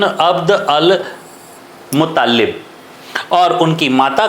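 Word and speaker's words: عبد المطلب: जो है वह था, जिसका जो है वह अरेबियन प्रोनाउंसिएशन एक अलग जो है वह होता है, अब्दुल्ला इब्न अब्द अल मुत्तालिब।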